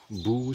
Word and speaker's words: Boo: Boo, c'est une ville qui s'écrit B-O-O. Alors, c'est la ville qui fait peur en anglais, là. When you say Boo.